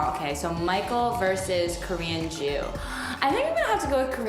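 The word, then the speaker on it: Joo: And my last name is Jew, J-O-O.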